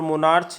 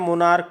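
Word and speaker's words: monarch: यहाँ पर लिखा हुआ मोनार्क, CH लगा हुआ, तो यहाँ पर मोनार्च हम लोग नहीं पढ़ते इसको क्या उच्चारण करते हैं, मोनार्क करते हैं।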